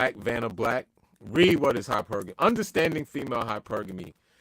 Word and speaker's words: hypergamy: Okay, hypergamy.